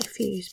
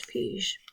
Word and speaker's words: Fuse: Apparently that's the pronunciation. My English means I want to say Fuse, but it's not. It's Fuse apparently.